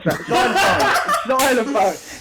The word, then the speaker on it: xylophone: It's not xylophone. Xylophone. Oh, xylophone. Yeah. I'm on about. No need for an X there, is there?